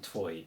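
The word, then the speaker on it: twój: The good news is that they're very, very short words and they rhyme. So remember this, muy, twoi. Note that O, that accent on the O, as we saw in Viet Chord.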